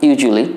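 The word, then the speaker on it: usually: তাহলে কী দাঁড়ায়, ইউজু আ বাদ দাও, আ ইউজুলি, ইউজুলি, অ্যাকচুয়ালি, অ্যাকচুয়ালি, এইভাবে বলার অভ্যাস করো, অ্যাকচুয়ালি, ইউজুয়ালি, অ্যাকচুয়ালি, ইউজুয়ালি। ওকে, এটা কিন্তু খুব ভালো লাগবে এবং উচ্চারণটা সুন্দর হবে।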